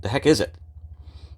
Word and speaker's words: Dahecasite: Some people pronounce it, the heck is it? Because you pick this up and you look at it and you say, the heck is this? Or Dahecasite.